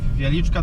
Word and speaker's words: Wieliczka: How how how how do you pronounce the salt mine? Wieliczka that's the name of the city. Yeah. Uh Wieliczka that's Polish name not a name and salt mine Wieliczka salt Okay.